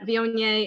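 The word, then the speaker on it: Viognier: in Southern Maryland Saint Mary's County but the Vionnet which I like to emphasize the proper pronunciation of this grape variety because I often hear it mispronounced but Vionnet is beautiful aromatics it's a perfect wine to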